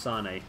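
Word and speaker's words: Sané: His name's spelt the same, and his name is pronounced Sane.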